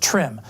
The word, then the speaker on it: TRMM: tropical rainfall measuring mission trmm for short usually pronounced trim a joint venture between NASA and its Japanese counterpart trim carried the first precipitation radar ever flown in